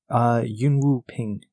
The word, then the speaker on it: Yuen Woo-ping: I want to make sure I'm pronouncing it correctly. Yuen Woo-ping.